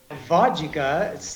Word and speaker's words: vodka: Vodka, to me, sounds like three syllables, and in English, a general rule is vowels produce syllables, not consonants. So vod has one O, which is one vowel sound, the sound of ah. So that's one syllable, and ka is another sound, so vodka. Ok, Dan, até a sexta que vem.